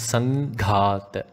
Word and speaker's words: Sanghata: Devarshigana Devarshigana Sanghata Sanghata Again, due to the Anuswara Sandhi, the im here changes to an ing, so it becomes Sanghata.